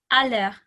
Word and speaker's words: aller: The verb to go, do you pronounce letter R, like aller or aller? So it's aller.